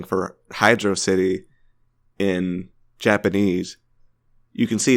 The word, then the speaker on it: Hydrocity: The second level is called Hydro City or Hydrocity Zone.